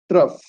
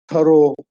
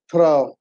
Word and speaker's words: trough: ROUGH, rough, trough. Okay. Pronunciation is very important. Don't pronounce it as thorough, trough.